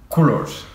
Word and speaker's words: Colors: Aunque me dijeron el otro día que se pronunciaba Colors y no me gustó porque ¿Culos? suena culo.